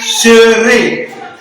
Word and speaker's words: serai: Je serai. Remarquez bien la prononciation. On dit ré ici. Au futur, c'est ré.